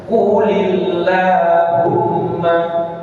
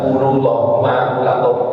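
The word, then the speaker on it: قُلِ اللَّهُمَّ: ayat disebutkan Allahumma jadi kalau kita putus membacanya Qul Allahumma Qul k tapi Kalau diteruskan qulillahumma Kalau diteruskan Bukan qulullah quulil dibaca di bawah qulillahumma jadi dimulai dengan kata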